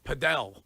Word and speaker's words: padel: Uh Padell. Padell. It's the new That's the new hot one. Oh my god. It's like It's spelled like paddle, but they call it padell.